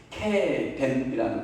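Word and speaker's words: קרן: 뿔 하면 히브리어로 케덴이라는 발음이에요. 뿔 하면 케덴이라는 거예요.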